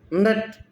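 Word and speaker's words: know: देखो के साइलेंट है इसमें, नो, न ऊपर की जीभ देखा, न न न न न न न न न, ये भी हिल रहे हैं।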